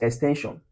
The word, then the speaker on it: extension: Let's use extension. So we break it down, x, 10, then shion. Where should we have the stress syllable 10?